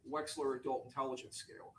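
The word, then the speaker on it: Wechsler: That would be the waste the Wexler adult intelligence scale.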